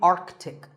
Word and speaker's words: Arctic: Pole of the earth it's mispronounced by many as Arctic but it's actually Arctic the sea in the middle is not silent similarly aunt Arctic and